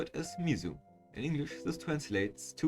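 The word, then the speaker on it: 水: Mizu, kunyomi, Japanese standalone reading, and sui, onyomi, sound compound reading, written with 4 strokes.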